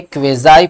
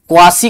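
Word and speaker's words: quasi: बेटा ये है क्वेजाई पेसिव, ये क्या है, क्वेजाई पेसिव। क्वासी कुछ लोग पढ़ते हैं जो कि बिल्कुल गलत प्रोनाउंसिएशन होता है, इसे बोला जाता है क्वेजाई पेसिव।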